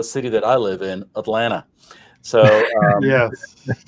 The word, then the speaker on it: Atlanta: So the second T is silent, such like in the city that I live in, Atlanta. So yes. People think it's Atlanta. No, it's Atlanta. Double N. Atlanta.